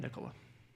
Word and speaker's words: Nicola: that's where I met nicola yeah and just a little bit about myself again my name is Nicola I was telling ed this morning it's like Nicholas without the s that helps you pronounce